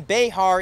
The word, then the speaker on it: Bexar: get past mansfield lakeridge two clarifications number one behar is the official pronouncer for the county that's the old school spanish mexican pronouncer before today's generation calls it bear county and number two there have been softball